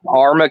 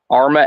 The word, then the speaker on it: Arma: Buckle that's in Missouri or Kansas Missouri Kansas Arma Kansas okay it's a small it's a small little town uh they all protect each other in fact they've uh give me the city against spell it Arma a r m a okay they've had several